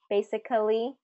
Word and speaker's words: basically: Basically, not basically, but basically. Basically.